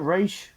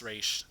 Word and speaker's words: Ra's: Isn't it Raish? Yes, Raish. It's technically pronounced Raish, but Liam Neeson ruined it for everybody.